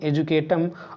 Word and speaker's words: educatum: तो यहाँ पर शब्द आपका एजुकेशन है, और एजुकेशन शब्द लैटिन भाषा के एजुकेटम से लिया गया है, जिसकी स्पेलिंग है EDUCATUM। इसे बोलते हैं एजुकेटम।